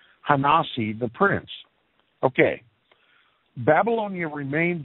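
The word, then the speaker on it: ha-Nasi: a space nasi hyphen th e space Prince hosny not excuse me i'm pronouncing it wrong ha nah see the prince okay Babylonia remained his center of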